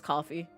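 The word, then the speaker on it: Ko-fi: I still pronounce it cough Kofi. I know it's coffee.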